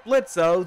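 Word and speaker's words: Blitzø: ass in Hell CEO blitzo the O is silent we are now heading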